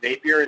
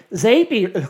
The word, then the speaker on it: Zapier: Yeah, the way I It's Zapier, by the way. is that- What's that? The way I remember that it's Zapier, not Zapier, is it rhymes with happier.